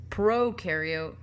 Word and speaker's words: prokaryote: bacteria which are prokaryotic Pro rhymes with no prokaryote have no nucleus they